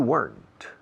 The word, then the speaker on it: weren't: I was here yesterday, but you weren't. Weren't. Otra vez una sola sílaba.